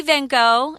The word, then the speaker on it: van Gogh: which is interesting it's so different from the English but if you say van Gogh everyone will understand but yeah van Gogh